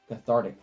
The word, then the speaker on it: cathartic: we've got another uncommon catheteric cathartic cathartic that's how you pronounce that cathartic pyre for one